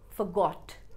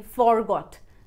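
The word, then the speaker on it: forgot: and second form fa-got not four-got Listen and repeat Jalapeno!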